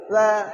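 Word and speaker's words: ثاء: সা সা সা সা সা সা সা সা। সিটি উচ্চারণ হবে না, সা এই সিটিটা উচ্চারণ হবে না, তোতলা ভাব।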